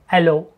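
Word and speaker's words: allons: the word allo, A-L-L-O-N-S, allo, French word pronounced as allo, meaning we go or let's go.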